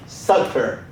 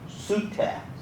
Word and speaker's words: Sutter: Americans call him Sutter. He's not Sutter. He pronounced his name Sutter. S-U-T-T-E-R. His name was Sutter.